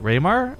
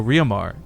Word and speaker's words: Riomar: So while I was doing IRL streaming with my friend WTFosaurus, I mentioned Riomar, and he's like, "Wait, Raymar?" I'm like, "No, Riomar."